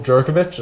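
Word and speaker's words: Jurkovec: But Pine Richland quarterback, Phil Jerkovich, I think I'm pronouncing that correctly.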